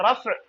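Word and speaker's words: رفع: देते हैं एक्चुअली में, और ये रफ है, रफ इसको मतलब प्रोनाउंस सही से नहीं कर पाते तो इसीलिए नॉर्मली फ्लो में इसको रफा कह देते हैं हम लोग।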